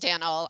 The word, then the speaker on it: Daniel: Now I'm going to turn it over to Jenny and Daniel. I apologize. I'm going to advance the slide as well. There we go. Thanks, Kathy. So I am Daniel, that rhymes with flannel, Perry.